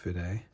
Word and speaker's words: Fude: No, it should be pronounced Fude.